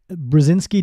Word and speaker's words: Brzezinski: And Brazinski doesn't sound anything like you might imagine it sounds seeing it written down. Uh there's barely any consonant noises in it.